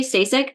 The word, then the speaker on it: Stasik: I am Stac.